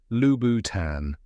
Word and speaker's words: Louboutin: It's a soft French tan, not a harsh tan. Now say it with me. Lubboutan.